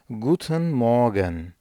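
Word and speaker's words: Guten Morgen: kadar söylenebilecek selamlaşma kalıbı Guten Moran gooden Morgan Günaydın anlamında good iyi demek Morgan sabah anlamında veya kısaca Morgan olarak da söylenilebilir burada r harfini okumamak yoğun bir şekilde bastıra bastıra okumaktan daha iyi Eğer yumuşak G şeklinde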